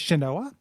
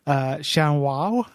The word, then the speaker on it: Shanoa: So in this game, you play as Shanoa, which I also kept calling, whenever I read it, I kept calling it Shanwao. Shanao. I just kept thinking different ways, but Shanoa, I think, is how it's pronounced.